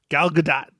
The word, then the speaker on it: Gal Gadot: Gal Gadot.